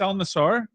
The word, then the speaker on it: Al Nassr: It's Al Nassr. I've been mispronouncing that this entire time.